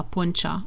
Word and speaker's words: poncha: Mivel az előző videómban, a pontsás videómban, a pontsak kiejtése miatt kaptam hideget-meleget az itteni magyaroktól, ezért megkérdeztem tőle, hogy a poncsa az oké-e, vagy csak szigorúan ponssa lehet.